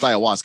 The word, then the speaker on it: ayahuasca: text line yeah well it's pronounced Ayahuasca I have no idea